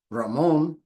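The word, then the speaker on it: Ramón: pronounce my name right because it is Spanish Ramon but human beings being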